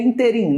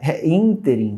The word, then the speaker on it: ínterim: é essa a quando essa daí é inteirinho não cara ínterim tá aquilo que indica um